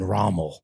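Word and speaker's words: Rommel: __ ] Nazis damn gener yeah raml alien raml not spelled like ramul r o m m l yeah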